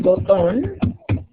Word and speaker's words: botón: El botón. Acento en la O.